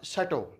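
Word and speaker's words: château: इस शब्द को आप क्या बोलेंगे, इसका उच्चारण रहेगा शैटो, इसको आपने शैटो बोलना है।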